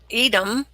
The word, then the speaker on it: Edom: It's Edom. I wasn't sure if I was pronouncing it right, so.